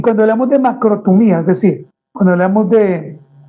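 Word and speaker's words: makrothumía: Recuerde que la palabra paciencia en el libro de Gálatas viene del griego macrotumía y lleva tilde en la i. Macrotumía.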